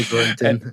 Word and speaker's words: Gorintin: You can say Gorintin. Everything works. Gorintin.